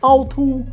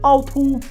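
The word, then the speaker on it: 凹凸: It's pronounced autu, autu, autu, and it means bumpy.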